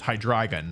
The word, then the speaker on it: Hydreigon: I actually know for a fact that the official pronunciation is Hydreigon. I'm not going to tell you why, but I did have to learn the official pronunciation of Hydreigon.